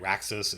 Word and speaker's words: Raxus: Raxus is two syllables. It's got a rax. It's got a fricative in the middle, so that helps me out.